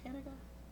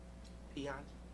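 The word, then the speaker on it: Piangi: He played the role of, is it Panaga? Pianji. Thank you. I was going to mispronounce that totally.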